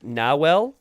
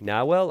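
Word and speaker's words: Nahuel: Ignacio in chat is saying it's pronounced Nawel. So I don't say not who well. It's like now well.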